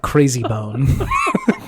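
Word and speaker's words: Krayzie Bone: I don't give a gpis featuring mystical and Crazy Bone Crazy Bone is a name Crazy Bone it's spelled so fun it's KR a y z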